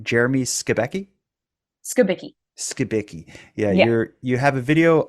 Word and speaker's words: Skibicki: You just released an amazing video on, correct me if I get the pronunciation wrong, Jeremy Skibicki? Skibicki.